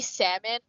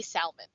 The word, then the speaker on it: salmon: But in Filipino or in Tagalog, you say salmon, you pronounce the L in salmon. So you say salmon.